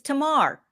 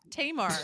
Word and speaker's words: Tamar: oh am i still saying that wrong it's tamar tamar it's people you don't want me pronouncing anything okay oh i know oh guys